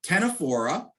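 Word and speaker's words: Ctenophora: down or mangrove jellies the tenefora with the sea again silent c uh are the uh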